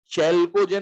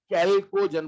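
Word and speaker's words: chalcogen: H silent है क्या, चैल्कोजन नहीं बोलते हैं इसको, कैल्कोजन बोलते हैं।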